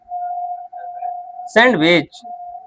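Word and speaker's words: sandwich: सैंडविच। सैंडविच नहीं। डी तो silent है।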